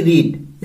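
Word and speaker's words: read: Spelling base पर same है लेकिन साउंड बेस पर किस तरह से है, रीड रेड रेड. तो यहां पे साउंड दिया जाएगा रेड. You will have रेड, लिखा जाएगा रीड.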